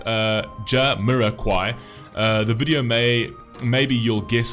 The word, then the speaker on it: Jamiroquai: In 1966, UK pronounced Jah-Mirror-Quai.